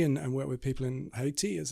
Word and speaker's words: Haiti: And I was asked to go to Haiti and work with people in Haiti, as it's pronounced.